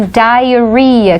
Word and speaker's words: diarrhea: Então, diarrhea, que é diarreia, diarrhea. Presta atenção na pronúncia, é uma palavra que a gente escreve de uma maneira bem diferente e a gente diz diarrhea.